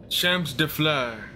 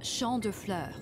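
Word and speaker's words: Champs de Fleurs: imagin Champs de Flo how do you say that Champs defur Champs defur it's Sha defur Sha defur I had okay I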